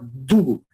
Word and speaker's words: Dugu: La religión de ellos es el Dugu, pronunciado con un poquito de sonido cultural, Dugu, ¿verdad?